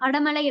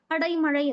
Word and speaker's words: அடைமழை: அடமலை அப்படின்னும் போது நம்ம ப்ரொனவுன்ஸ் கரெக்டா எழுதும் போது அடைமழை அப்படின்றத சொல்லுவோம்.